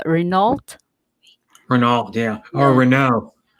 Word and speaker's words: Renault: yeah, It's called Renault. Renault, yeah, or Yeah, Renault. yeah, So they Renault. say Yeah, it's Renault.